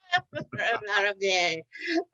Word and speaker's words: LaRaviere: I think most of us heard about it, and his name is Troy Laraviere, right? Did I pronounce it right? You got it the second time. Laraviere.